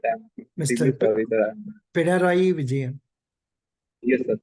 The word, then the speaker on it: Pinarayi Vijayan: The capital is Thiruvananthapuram, and the CM is P. P. Vijayaran, something like that. I'm Mr. extremely sorry, sir. Pinarayi Vijayan. Yes, sir. Pinarayi Vijayan.